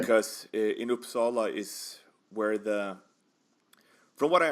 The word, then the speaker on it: Uppsala: pronounce it? Now, what type of town was that? Is that a larger town? Uppsala.